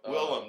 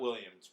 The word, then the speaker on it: Willem: william defoe willem dafoe willem not williams well is it really